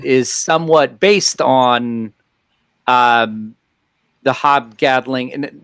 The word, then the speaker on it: Hob Gadling: I mean, from my standpoint, when I took a look at that fellow, how does he pronounce his name? Hob what? Was it again? Hob Gadling.